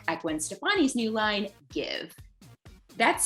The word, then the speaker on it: GXVE: And today we're taking a closer look at Gwen Stefani's new line, Give. That's spelled GXVE, by the way.